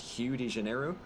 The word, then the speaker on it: Rio de Janeiro: make very little sense apparently Rio de Janeiro is supposed to be pronounced Hugh Janeiro um and to that I